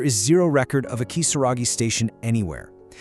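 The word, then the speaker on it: きさらぎ: The name is written with the kanji character for demon, but it's pronounced Kisaragi.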